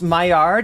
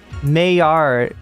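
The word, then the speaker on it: Maillard: uh that's cool too it's pronounced myard it is are you serious oh my God there's a difference between words that I learned before I learned friend and words I learned after and the difference is that the words I learned before I learned French I uh I don't pronounce right mayard it's myard yeah myard it would be myard It's the malard reaction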